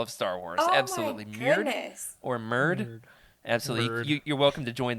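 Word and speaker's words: Myrd: or Merd. Absolutely. You're welcome to join the Merd fan club. How do you spell that?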